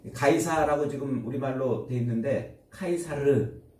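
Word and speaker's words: Caesar: 지금 우리말로 되어 있는데 카이사르를 카이사르라는 표현을 우리말 발음대로 그냥 가이사 이렇게 팩트로스를 베드로 이렇게 하는 것처럼 가이사 이렇게 불러 놓은 거예요 이게 카이사르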